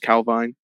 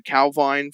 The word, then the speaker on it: Calvine: It's Scottish, so I think it might be pronounced Calvine.